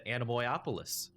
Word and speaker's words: Anemoiapolis: Welcome to Anemoiapolis.